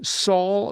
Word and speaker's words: sol: sol, la, ti, do, I don't hear sol. I hear so. So, a needle pulling thread. yeah, they don't say sol, a needle pulling thread. That is, the L is silent.